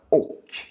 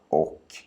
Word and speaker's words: och: Har du hälsat på mina vänner Sara och Patrik? Har du hälsat på mina vänner, Sara och Patrik? Så, kom ihåg att och nästan alltid uttalas som å.